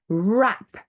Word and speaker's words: wrap: they're all silent use we have a silent um w at the beginning of the word followed by an R so wrong you are either right or you're wrong um to write as we said before wrap to